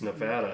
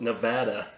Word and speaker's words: Nevada: do you do you still say nevada it's nevada yeah i've never said it in the freaking drive a dmv here in henderson it says on the wall it's pronounced nevada yeah i've never said i've never said about